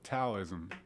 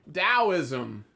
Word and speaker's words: Taoism: even I think Tower Taoism Taoism doubt there's it's it's relatively you know it's it's pronounced with the D but it's spelled with a tee oh okay yeah Dallas